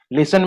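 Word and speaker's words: listen: कुछ लेटर बिल्कुल साइलेंट रहता है, जैसे नो में N साइलेंट है, लिसन में T साइलेंट है।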